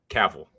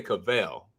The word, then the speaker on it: Cavill: If I say his name, Cavill. That's why I stopped. I was like, let me think about his name because I always say Cavell. You're say Cavell or Cavill.